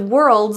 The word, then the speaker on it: world's: at the end of Worlds is is pronounced as a zed sound not a voiceless s plural s's that come after voiced sounds are pronounced as a z you're the world's biggest